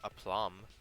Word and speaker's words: aplomb: cannot pronounce this word I could probably pronounce aplomb like a plum but suck suction like